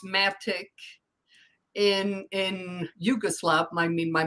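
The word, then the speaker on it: Matić: They decided when they came to the U.S., so many people added the H, so either SH, CH to have that ch sound, because we have that little check mark over the C's and the S's, but it's pronounced Matic.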